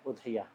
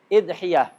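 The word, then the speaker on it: أضحية: Udhiyah ini bacanya bisa 4. Udhiyah. Hamzahnya di dhammah, ya-nya di takhfif. Udhiyah. Atau ya-nya di tasdid. Udhiyah. Atau hamzahnya di kasrah. Idhiyah, ya-nya takhfif. Bisa juga di tasdid. Idhiyah. Jadi udhiyah, udhiyah, idhiyah, idhiyah.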